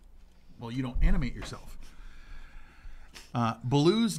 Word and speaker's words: Baloo: Baloo's name in the Jungle Book is actually the Hindi word for bear. Instead of B-A-L-O-O, like they spell it, though, it's B-H-A-L-U, but it's still Baloo.